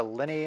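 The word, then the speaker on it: Linni: with assuming i didn't get the name totally wrong it's lenny okay i'm just gonna blame it on the whole feline tongue i mean it's l-i-n-n-i so on me honestly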